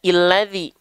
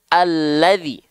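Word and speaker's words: الذي: harakatnya kenapa enggak dibaca illadzi kenapa enggak dibaca ulladzi ya tapi kenapa dibacanya alladzi ya Kenapa dibacanya alladzi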